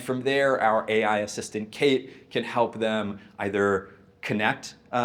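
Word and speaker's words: CAIT: Tell me a little bit about Kate, about your team, how you thought through building this piece of the product. Yes, and Kate is spelled c a i t.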